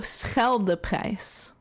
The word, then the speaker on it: Scheldeprijs: My version is Scheldeprijs. Okay, so no. Just straight up no. No. Okay, so Scheldeprijs.